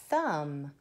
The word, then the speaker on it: thumb: now this one says thumb would is it your thumb but see the B at the end ouch I hurt my thumb bow no that's got a silent B also it's